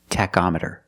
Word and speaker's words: tachometer: can call it a tachometer or you can call it the RPM gauge let's call it a tachometer with the word tachometer the CH makes a k sound Tech tachometer you check the tachometer